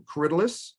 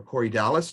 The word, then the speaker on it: Corydalis: This is a little corydalus or corydalis, depending on how you want to pronounce it.